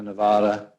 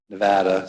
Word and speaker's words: Nevada: california oregon washington arizona alaska idaho montana nevada nevada sorry i lived there i know that's how you pronounce it guam and the mariana islands so